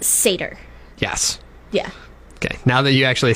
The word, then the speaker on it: satyr: It's pronounced satyr.